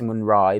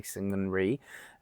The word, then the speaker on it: Syngman Rhee: It's actually pronounced Syngman Rhee, but for the purpose of your spelling, I'm going to say Syngman Rhee because it will help you guys memorize the spelling.